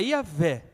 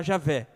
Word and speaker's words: Iavé: a Noé, se chama Iavé. É representado por aquelas 4 palavras que nós entendemos que seja exatamente essa pronúncia, que no português se dá Javé.